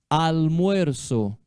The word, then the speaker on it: almuerzo: Almuerzo. La hora del almuerzo. Almuerzo. O Z tem som de S, tá?